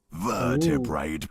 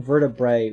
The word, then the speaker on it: vertebrae: He also kept pronouncing vertebrae with like an extra like T at the end, saying vertebrate by vertebrate.